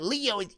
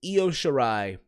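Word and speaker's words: Io Shirai: you shitty wrong is it's not leo you know I'm I said it right calm the down I is yo sure I versus Candace Laura and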